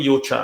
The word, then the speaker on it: Yochaa: I call it Yochaa. Am I getting it right? It's perfectly correct. Okay. That's the correct pronunciation.